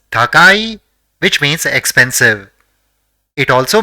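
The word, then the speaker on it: たかい: The first character in the word is ta, the second is ka, and the third is e. So it will be pronounced as takai, which means expensive.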